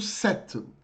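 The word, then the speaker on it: cet: eu peculiar Eu famoso setto que se escreve c e t que se fala como sete como aqueles sete do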